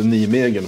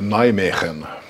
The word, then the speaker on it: Nijmegen: Ungefär som Nijmegen heter inte Nijmegen för de som vet vad det är för ställe, utan det heter Nijmegen.